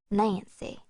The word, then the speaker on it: NC: Five, NC, a person with no class, pronounced Nancy.